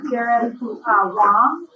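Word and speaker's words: Garrett Wang: Garrett Wong, his name is pronounced, I learned, who was on Star Trek Voyager, is the director of the Trek.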